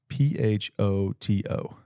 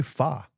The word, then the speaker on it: Pho: P-H-O-T-O. P-H-O-T-O. Photo. All right. Now say this. P-H-O. Pho. See? Why do people say fa?